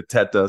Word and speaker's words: Tita: And so I think we pronounce it Tita because I think my grandparents, they came over, they understood that when they came to America, they were like, maybe we need to change the pronunciation. So we go by Tita, but I also answer to Teta.